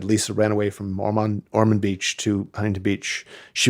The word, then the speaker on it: Ormond: Am I pronouncing it correctly? Ormond, yeah.